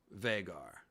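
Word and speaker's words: Vhagar: i have started by my pronunciation of the dragon known as vagar or sometimes vegar so my thinking on this was simply that vagar is not spelled like rhaegar and if it were spelled like rhaegar with an h-e-a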